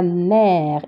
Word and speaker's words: mer: ER, comme s'il y a E accent. D'accord? Ça se prononce E. Donc, à la mer.